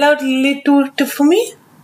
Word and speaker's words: Lilitu: Don't spell out Lilitu for me. L-I-L-I-T-U.